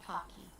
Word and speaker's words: Pocky: send is it um is it pronounced pokey pokey or Pocky Pokey it's Pokey so I've said it wrong my entire life I I would say